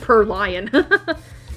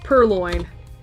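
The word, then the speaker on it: Purrloin: I said per lion. Perloin.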